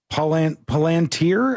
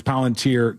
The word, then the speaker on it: Palantir: guess, of that company, Palantir, I think is how you say it.